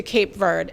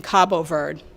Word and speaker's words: Cabo Verde: Morrissey was given to Cape Verde and I should be saying Cabo Verde that's the correct way to say it I'm sort of I'm